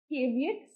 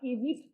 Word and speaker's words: caveat: Moving to the next slide, caveat या caveat ऐसे करके इसको प्रोनाउंस किया जा सकता है, which is warning or caution, English translation, which is a very important part of civil law.